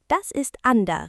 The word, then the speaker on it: Unter: « Unter » se prononce « Ander », n'est-ce pas ?